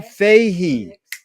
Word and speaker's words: Fahey: Fahey. Is that the proper way to pronounce it? Yep, that is.